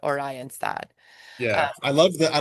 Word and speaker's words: Oranjestad: Oranjestad. Oranjestad. Which which which folks means Orange City. Yes. And I that's what our cab driver told us that's how you say it. Oranjestad.